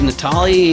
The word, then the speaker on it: Natale: joined today with Rob and it is it Natalie is that how you pronounce it yeah actually that that is correct